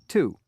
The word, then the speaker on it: to: before the consonant letters I pronounce it like T quickly like the word here tug so as you can